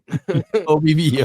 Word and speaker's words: OBVO: OBVO. Oh boy, Vivo.